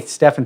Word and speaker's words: Stefan: Hi, Stefan. Thanks for correcting my pronunciation. Hi, Rob. It's Stefan, as in the Bible of Stephen. As in the Bible of Saint Stephen.